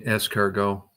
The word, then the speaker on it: escargot: She said, "I think you mean escargo."